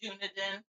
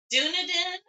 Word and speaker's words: Dunedin: there nice and they don't know how to pronounce it but they still say Dunedin yeah oh my God yeah the newbies silver